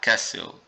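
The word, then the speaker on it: castle: ين ين ت قلعه كاسل كاسل ناخد بال ان التي مش هتنطق هتنطق هتنطق مدير مانجر مانجر جا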